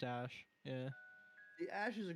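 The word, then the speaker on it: Æ: it ash is there or something it's pronounced ash yeah the ash is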